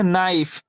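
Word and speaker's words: knife: दोस्तों हमने क्या सिखा यदि किसी भी वर्ड में यदि एन से पहले यानी एन से पहले के रहेगा तो वहां के क्या रहता है हमारा साइलेंट रहता है तो दोस्तों ये वीडियो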